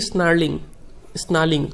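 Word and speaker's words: snarling: He should be स्नार्लिंग, आर यहाँ पे silent होता है।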